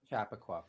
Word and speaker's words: Chappaqua: time uh connecting you know in is it chappaqua am i saying it right chappaqua yeah to get it to chappaqua yeah just